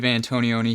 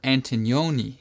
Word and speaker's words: Antonioni: hey everybody antonioni here or antonioni if you'd like to say it like in italian i know there's a bunch of new people here who are subscribed so welcome to the channel that's how you say my last name as you can see